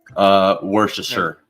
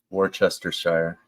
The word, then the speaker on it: Worcestershire: But it's definitely part of it's not being pronounced. Yeah, you gotta just kind of skip the middle.